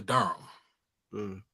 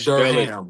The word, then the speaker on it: Durham: It's not Durham. Go ahead, get it right. Bro. Not Durham. You spell it D-U-R-M. No. Durham. H-A-M. Durham. Nah. D-U-R-M. Durham, my brother.